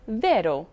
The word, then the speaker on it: vero: will receive the stress this rule is also true in two syllable words such as vero true bravo good and cordo for short